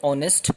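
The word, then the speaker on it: honest: इसी तरह से एन ऑनेस्ट वर्कर, एक ही बात है, ऑनेस्ट। एच इज साइलेंट, ओ, तो फिर आवाज किसकी आई, vowel sound, O, एंड ओ is your vowel sound.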